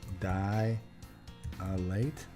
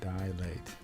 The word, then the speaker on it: dilate: widen as a pupil that's dilate die late not dilate just died late I guess it's just two syllables that's not dilated what